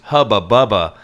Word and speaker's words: Hubba Bubba: Hubba bubba. But Hubba Bubba is spelled like tuba, so it looks like Hooba Booba.